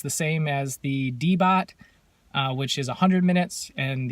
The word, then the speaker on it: DEEBOT: right there with the Debboot as far as, make sure I'm pronouncing that right. Yeah, DEEBOT. I've said Debboot the whole video.